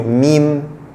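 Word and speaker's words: ميم: Et la lettre suivante, c'est le mim. Mim, mim, ça s'écrit comme ça.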